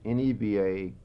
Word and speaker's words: Nevaquaya: Okay, Nevaquaya is N-E-V-A-Q-U-A-Y-A. In Comanche, the way to pronounce it was Nevaquaya.